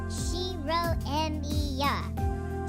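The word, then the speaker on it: Shirou Emiya: No, that's wrong. It doesn't sound like Western names. You pronounce it Shirro Ma.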